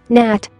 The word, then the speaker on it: gnat: G is silent in the following GN words. Gnat, gnat.